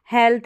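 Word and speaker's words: health: भी प्रोनाउंस करते हैं शॉर्ट ए साउंड भी प्रोड्यूस होता है जैसे इसमें है इसमें ल्थ नहीं है हेल्थ है ए साउंड इसमें प्रोड्यूस हो रहा है लॉन्ग ए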